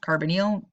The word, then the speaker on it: carbonyl: to be nonpolar you got the carbonyl it's pronounced carbonyl in my head i think of it is carbonly because it's got just that carbon with a